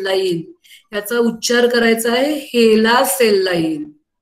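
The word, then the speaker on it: HeLa: एल A sale line त्याचा उच्चार करायचा आहे हेला सेल लाईन हेला हेला सेल लाईन मग प्रश्न असा येतो की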